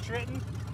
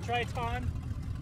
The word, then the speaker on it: Triton: here away from the saturn how do you pronounce that trenton triton that's right tritonian i don't know i don't